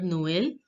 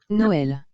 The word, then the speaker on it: Noël: Now let's hear the pronunciation of this word Noël by the native French speaker. Noël, Again, Noël, again, Noël, again.